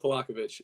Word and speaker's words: Polakovich: Jacob Polakovich.